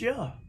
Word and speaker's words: Jah: sound j-a-h makes but we know from jah j-a-h sound in hallelujah is yeah said the same all over the world hallelujah not john ye or jehovah uh yahweh but ja yeah now if we can